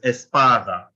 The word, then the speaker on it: espada: last one right so this next to last which is PA so it's Espada can hear the stress on the a the for the first a Espada the next one is